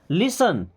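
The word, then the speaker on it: listen: लिसन यहां पर T silent लिसन मी्स सुनो टू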